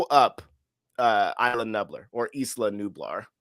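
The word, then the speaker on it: Isla Nublar: uh island nuer or Ela nublar I say it like Isa nuer that's how John Han said it that's how I'm gonna say it and they and blowing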